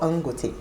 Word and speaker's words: Dangote: It's actually called Angote to increase. It's called what? Yes, the D is silent.